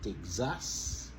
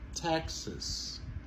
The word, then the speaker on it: Texas: Texas. Montez sur première syllabe là. Texas. C'est pas Texas, mais c'est plutôt Texas.